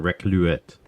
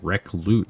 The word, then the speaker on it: Recluit: I'm looking at this like it's a French name, like a Recluet. So it's an old gamer name, and it's Recluit.